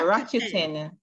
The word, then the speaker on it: Rakuten: Spell it. R-A. Yes. K-U-T-E-N. K-U-T-E-N? E-N. Yeah, Rakuten.